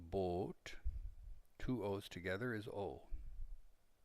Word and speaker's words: Boot: movie perhaps das bolt it's not pronounced boot but bot two o's together is